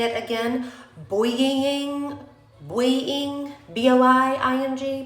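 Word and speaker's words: Boi-ing: The Benefit Cosmetics, I don't know how to say it again, Boying, B-O-I-I-N-G, Boying.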